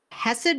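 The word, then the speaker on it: Hesed: rid Homestead is our Channel okay can you spell that Hess it's h h e s e d okay hessed Ridge Homestead is the name of the YouTube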